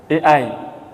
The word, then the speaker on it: AI: udah lebih canggih lagi tulisannya Ai Bacanya apa teknologi eii Jangan ditambahin t Pak kan Ai kan tulisannya kalau ditambahin huruf t di depannya Jadi kotor Pak itu sekarang sudah canggih